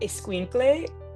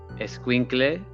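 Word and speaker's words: escuincle: I like the word esquinkle um because it sounds so funny.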